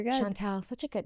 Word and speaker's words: Chantel: That's how you pronounce it, right, Shantel? I should have checked that before we started this. No, you're good. You're good, Shantel.